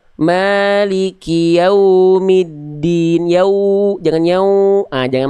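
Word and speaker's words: مالك يوم الدين: Di bagian wau jelaskan lagi monyongnya. Lalu jangan nyau jangan masuk hidung. Maliki yaumiddin. Yau jangan yau. Ah jangan masuk hidung. Diulang lagi Bunda. Maliki yaumiddin.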